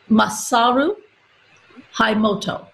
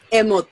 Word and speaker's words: Masaru Emoto: personal assistant to Dr., and I've got to pronounce it, Masaru Emoto. Emoto.